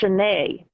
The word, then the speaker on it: Sioned: oh yeah, it's like Sioned is actually pronounced Sinead, Sinead Yeah.